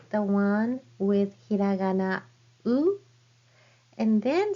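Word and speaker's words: う: So this is u. Look at the shape of of my mouth. It doesn't change.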